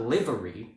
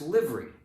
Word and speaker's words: livery: It's not livery, it's livery, right?